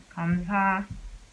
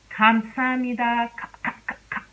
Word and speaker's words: 감사합니다: But if you were to pronounce this word using the real K sound, it will sound like this. 감사합니다, 감사합니다, 감사합니다.